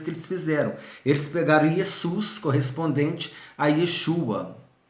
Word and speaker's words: Jesus: A gente escreve Jesus, mas fala Jesus. Pronuncia-se como se fosse um Z aqui, Jesus.